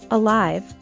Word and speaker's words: alive: very active as well with the word alive we stress the second syllable alive while forth kicking we'd